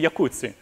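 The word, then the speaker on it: Jacuzzi: The J is actually a Y. So it's a Yakutsi.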